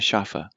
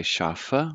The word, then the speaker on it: Schafe: Notice every single letter is pronounced in German. Let's see if you can see my mark here. So we don't just say Schaf, but we say Schafe, which is correct.